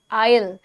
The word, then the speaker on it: isle: ठीक है, just think of the word ISLE, that इज also आयल. That, उसका भी एस जो है वो साइलेंट होता है.